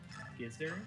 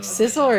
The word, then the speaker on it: Scizor: I once had a friend who pronounced Scizor, Gizzard, and I wanted to call my ears out. Yeah, Like, Scizor is obviously the correct one.